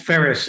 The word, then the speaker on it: Farias: The case of Farias or Farias. Farias. Pronounced Ferris in Bermuda.